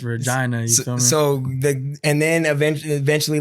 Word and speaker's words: Regina: say like Regina so you got to pronounce the i's Regina so and then eventually